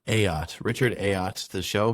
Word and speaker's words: Ayotte: Ayotte. Ayotte.